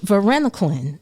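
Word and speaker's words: varenicline: you say it right Verena Clin there it goes because you have to put the L in the end Verena Clin okay that's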